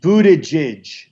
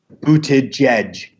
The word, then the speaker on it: Buttigieg: It's like J. It's like J-A-E-J. Jedge. It's like Buttigieg.